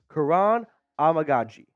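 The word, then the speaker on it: Kiran Amegadjie: say his name correctly once and for all Karan amagi okay I think I got it down now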